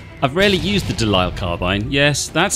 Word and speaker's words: De Lisle: I've rarely used the delile carbine yes that's how it's pronounced it's an English gun but I recently